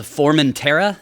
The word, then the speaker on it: Formentera: The new album is called Formentera. Am I pronouncing that You are, correctly?